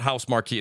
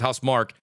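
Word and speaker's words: Housemarque: have house uh and I always say it wrong it's not house Marquee it's house Mark you could play their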